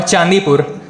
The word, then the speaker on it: चांदीपुर: एक है बकरी का ब से बांदीपुर, और एक है चरखे का च, बांदीपुर और चांदीपुर।